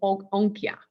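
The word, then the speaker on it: Onycha: I had to listen how do you pronounce it. It's an onychia.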